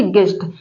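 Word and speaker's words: guest: होता है मेहमान तो जी यू ई एस टी गेस्ट यहां पर भी देखिए ई क्या है य वाउल है यहां पर जी कंसोनेंट है उसके बीच में यू आया है यू साइलेंट है देखिए गिल्ड गिल्ड मतलब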